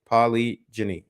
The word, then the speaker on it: polygyny: part okay yeah so that's polly jenny and it's spelled p-o-l-y g-y-n-y i'm pretty sure paulie ginny yeah okay so um